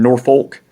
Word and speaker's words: Norfolk: up but when you're talking about norfolk and suffolk you get to cuss so norfolk virginia suffolk virginia you always tell someone who wasn't from the area but going norfolk norfolk suffolk pokosin i